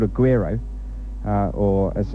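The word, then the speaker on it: güiro: Well, I've brought down for Pauline what's called a guiro, or as it's pronounced, guiro, and it's this funny sort of shaped instrument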